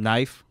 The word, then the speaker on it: knife: Like Knife. knife. Like, why the heck is there a K?